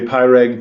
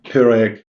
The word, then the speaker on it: Pyreg: that I have been mispronouncing this if you pronounce it in English you would say pyreg but we say in German peric Iraq is fine we'll we'll go with pure